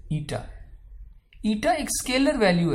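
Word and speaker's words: eta: और ये जो ईटा है, ठीक है, you pronounce it एज ईटा।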